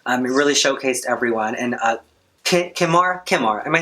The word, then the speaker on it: Kahmora: My favorite was, again, KAHMORA. You said her name wrong. KAHMORA.